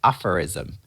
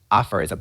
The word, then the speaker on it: aphorism: it's kind of like a proverb so let's pronounce it together as a good word aphorism aphorism put the strust on the first part let's